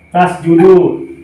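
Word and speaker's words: تسجدوا: Harus ditulis meskipun tidak dibaca. Tasjudu, seperti ini. Tasjudu, alifnya harus ada meskipun alif ini tidak usah dibaca.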